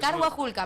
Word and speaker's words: Carhuajulca: A mi Es próximo- Carguajulca, aprendan. mi próxima Aprendan a mascota se va a llamar pronunciarlo.